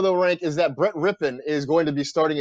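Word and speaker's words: Rypien: It's Rippon. It is not Ripien. I know that's how it's spelled.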